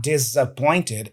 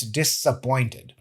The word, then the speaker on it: disappointed: She said, Thiago, in these words here that you usually say, the S is pronounced as an S. So it's not buses, it's buses. It's not basic, it's basic. And it's not disappointed, it's disappointed.